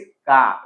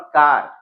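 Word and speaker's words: car: Okay, र है, कहीं ऐसे वर्ड्स है इंग्लिश में जहां पे र साइलेंट है, उसका यह अ होता है। इट इज का, इट्स नॉट कार। Okay, I have a कार, नॉट कार, इट्स खा। याद रखिए प्रोनाउंसिएशन।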